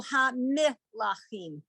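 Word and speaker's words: הַמְּלָכִים: Ham lachim. Yeah. Okay. So some people are going to do ham lachim and some people are going to go ha mi lachim. Okay, But both are correct, really.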